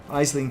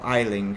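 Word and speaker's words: Aisling: Isling Duval, yeah. Or Eiling, really, isn't it? I'm pronouncing it wrong on purpose, of course.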